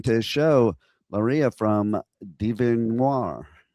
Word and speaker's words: DieveNoire: It's Larisa, and the band's name is Devinwahr.